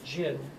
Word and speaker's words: Jin: invasion from the north a dynasty called the Jinn j i n both of those together then